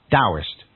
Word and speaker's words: Taoist: oh I st so it's written terrorist and pronounced with a d' Daoist that always confused the hell out of me